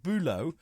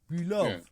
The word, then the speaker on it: Bülow: It's not Bülow, it's Bülow. Yeah.